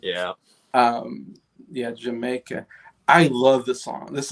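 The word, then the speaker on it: D'yer Mak'er: Jamaica. Yeah. I have no idea how. It's a weird. It's supposed to be a play on words of Jamaica.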